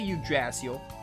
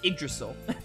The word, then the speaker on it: Yggdrasil: By the way, in Symphonia, you say Yggdrasil, but I know in like in Dragon Quest, they call it Yggdrasil.